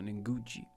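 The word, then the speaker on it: Ngugi: And then they had the administrator Nguchi. I didn't know how to say it before. Nguchi.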